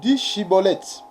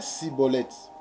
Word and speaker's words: Chiboleth: Il lui disait alors: eh bien, dis Chiboleth. Et il disait Siboleth, car il ne pouvait pas bien prononcer, sur quoi les hommes de Galad les saisissaient et les gorgèrent près de Gueux du Jourdain.